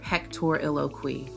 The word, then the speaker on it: pectoriloquy: Whispered pectoriloquy. Pronunciation.